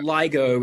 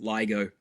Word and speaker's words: LIGO: LIGO is how we pronounce it. Yeah, it's an acronym. Laser Interferometer Gravitational Observatory, but we just we pronounce it LIGO.